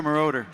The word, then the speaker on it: Moroder: shared with us, but also getting to know Marauder, who invented disco. And then, to know is that how you pronounce his name? Yeah, Giorgio Moroder.